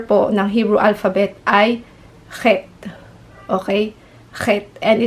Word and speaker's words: Chet: ng Hebrew alphabet ay het okay het and it sounds like he so so kailangan niyo pong i-pronounce or ipalabas sa inyong lalamunan yung parang meron kayong plema Sorry po sa ating word